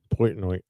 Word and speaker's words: Portnoy: Portnoy. Portnoy.